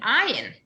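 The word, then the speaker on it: עין: And ayin, which, believe it or not, is another silent letter.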